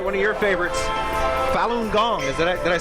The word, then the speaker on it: Falun Gong: work all right one of your favorites falun gong is that did I say it correctly that's